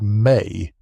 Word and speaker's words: me: what the Sumerianss called the me, pronounced may, a concept that has